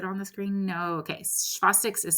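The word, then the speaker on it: Chvostek: neuromuscular irritability might work and so there's um shastic and tro sign if you don't know what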